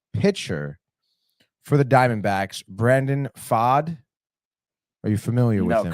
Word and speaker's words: Pfaadt: Because I remember you asking me how to pronounce that last name. It's Pfaadt.